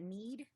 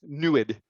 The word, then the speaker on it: NEID: mike ask is that neid is that need it's pronounced knew it knew it okay is